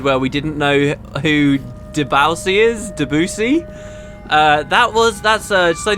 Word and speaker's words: Debussy: Shabuzi? What? Shabuzi? No, Debussy. You remember we pronounced it Debussy?